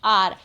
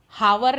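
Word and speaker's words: hour: अब फर्स्ट और सेकंड में देखिए, इट इज़ डैश आर। देखिए एच से चालू हो रहा है लेकिन उच्चारण स्वर का आ रहा है, आर बोलते हम, हावर नहीं बोलते हैं, राइट।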